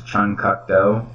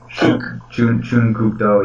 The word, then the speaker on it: Chun Kuk Do: And yeah, whenever I try to pronounce like Chuck Norris's martial art, I always thought it was Chung Kuk Do, and it's like Chun Kuk Do, yeah.